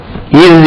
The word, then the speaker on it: is: am, is, இதுக்கு உச்சரிப்பு பாருங்க, is என்று உச்சரிக்க வேண்டும். is இல்ல, is.